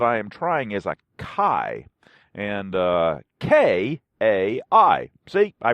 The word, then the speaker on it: Kai: The new blade that I am trying is a Kai, and K-A-I. See, I pronounced it correctly today.